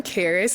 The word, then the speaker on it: Karris: Hi, I'm Karris. It's spelled like Paris but with a K.